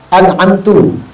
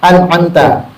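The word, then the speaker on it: أنعمت: Di sini kana yaqul an'amtu, an'amti. Ada di sini contohnya. Mestinya kita baca apa? An'amta. Mulutnya dibaca an'amtu, an'amti. Tak boleh. Tak boleh.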